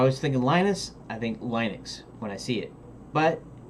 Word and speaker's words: Linux: I think Linux when I see it, but everybody pronounces it Linux, so it's Linux.